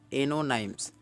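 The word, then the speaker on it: antonyms: इसको देखो स्पेलिंग में एंटोनाइम्स लिखा है, लेकिन पढ़ा जाता है एनोनाइम्स। टी जो है साइलेंट हो गया, यानी अपोजिट को, अपोजिट वर्ड को एनोनाइम्स भी कहा जाता है।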